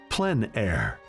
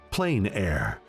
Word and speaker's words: plein air: open air or outdoors the french pronounce it plen air others say plain air no matter how you